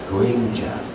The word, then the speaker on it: Grimmjow: And so I had always called him Grimmjow, or Grimmjow. And when Wendy was directing me in the anime, she's like, no, you need to pronounce it Grimmjow, okay? And so I pronounced it Grimmjow.